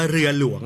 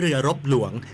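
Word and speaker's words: เรือหลวง: เชียร์ ทหาร เรือ ต้อง ต้อง ออก เสียง ว่า เรือ หลวง นะ ฮะ เรือ หลวง ไม่ ใช่ เรือ รบ หลวง คือ หลาย หลาย สำนัก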